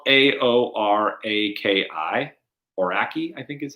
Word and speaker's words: Aoraki: It's spelled Aoraki. Aoraki, I think is how I looked it up to be pronounced.